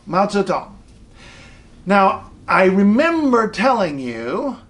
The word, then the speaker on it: Mao Zedong: up I guarantee you if you can say it's up you can say so Tom so we're settled matzo Tom now I remember telling